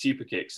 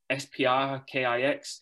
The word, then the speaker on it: Sprkix: a good point i you wouldn't know it's super kicks unless you knew what a super kick was and they're like is it spr kix spr kicks spri kicks and i'm like well